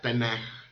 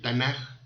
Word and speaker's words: Tanaj: en el acrónimo del Tanaj. Y por ser la última letra, toma la forma de Kaf final. Y se pronuncia suave, como J, no como K. Por eso es que se pronuncia Tanaj y no Tanaj.